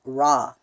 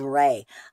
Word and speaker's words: Ra: with the God the Egyptian god known as raw and is actually supposed to be pronounced as ray I have been talking to Ross since I